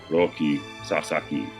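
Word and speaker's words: Roki Sasaki: That's the whole reason like I know it's roi sasaki but in Japanese it's roi sasaki cuz the like in western you know for us in English there's an you know extra emphasis on the second syllable right like that's why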